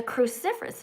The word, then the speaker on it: cruciferous: It's a cruciferous vegetable. Kale is a cruciferous vegetable and so is cauliflower. And so is broccoli. They are cruciferous vegetables. Can you say that? Cruciferous. Cruciferous. Four syllables.